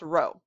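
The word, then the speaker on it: rho: in physics is row that's this weird little p looking thing but it's pronounced row so what we're going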